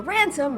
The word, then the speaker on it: Ransom: candy pretends to be dr. ransom rhymes with handsome there to see Neff deprives the fairy bribable guard to leaving the door open rosin Ned escape while dr.